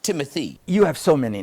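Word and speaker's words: Timothée: I meant to say Timothy. It's pronounced Timothy.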